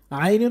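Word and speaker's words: ع: এই আইন যে হরফ এটাও কিন্তু কন্ঠের মাঝখান থেকে উচ্চারণ করতে হবে আইন আইন জবর জের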